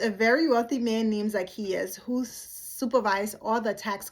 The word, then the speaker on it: Zacchaeus: The first team is Jesus and Zachcharias. Oh no, Zakius. I'm sorry, I mispronounced his name.